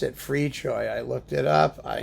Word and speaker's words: Fricsay: That's how you pronounce it, Fricsay.